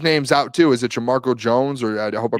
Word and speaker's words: Jamarco Jones: Is it Jamarco Jones or I hope I pronounce Jamarco Jones.